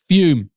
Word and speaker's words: Fume: And there's no better tool to break up with vaping or smoking than this episode sponsor, Fume. FUM, pronounced Fume, is an award-winning flavored air device used by more than half a million customers.